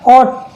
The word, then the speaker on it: ought: ऐसे हो गया ऑट, ऑट का मतलब होता है चाहिए, OUGHT, इसमें लास्ट में GST आ रहा है तो GH यहाँ पर साइलेंट हो जाता है।